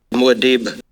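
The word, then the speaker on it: Muad'Dib: winner yeah sure was what you got frank muadeeb yeah okay let's give this a nailed it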